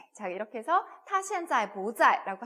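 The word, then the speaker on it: 不在: 두 번째 성조 로 바꿔서 ' 부자 이 ' 라고 읽으세요 . 예 . 그러므로 "tā zài bú zài" 라고 말 하면 " 그 는 지금 여기 에 없습니다 " 라고 대답 할 수 있습니다 .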